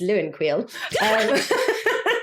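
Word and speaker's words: Leeuwenkuil: you don't know I I'll just say it's Luen Quil and that's how it's now pronounced that was a sanso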